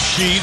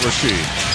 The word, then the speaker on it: Sheed: about she is that everything is only the last syllable it's Sheed it's not rashed it's chips as enchant